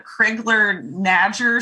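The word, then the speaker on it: Crigler-Najjar: was to treat uh i believe it's pronounced uh kriegler nadger syndrome or n-a-j-j-a-r not exactly uh sure of the pronunciation there uh sorry because i've only uh seen it written personally but it it was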